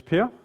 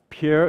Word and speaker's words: Per: arm um so um my name is Pier um you can pronounce that any way you want I've been through a lot of those uh so Pierre is fine per is fine Pierre is